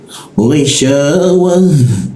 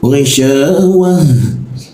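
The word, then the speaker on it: غشاوة: Gisyawah ghi e posisinya ghi diakun sini ya. Ghi ghi jangan gi ya. Kalau kita membacanya gi itu posisinya di sini, lidahnya di sini. Jangan gunakan lidah di sini, tapi ee penekanannya tuh di Jakun sini. G pakai lidah bagian belakang.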